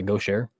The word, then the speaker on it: Gaucher: uh gaucher go share I'm assuming it's French as well so I'll say go share um yeah the gauche is like a type of painting you know it's spelled like g-a-u-c-h-e so go share is what I'm what I'm thinking oh hey look at